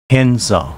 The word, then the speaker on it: Henza: Henza, pronounced Hyanza in Uchinaguchi.